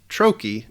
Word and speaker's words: trochee: you can see that the first syllable of the word is stressed while the second syllable is unstressed it's pronounced Troi not Troi now this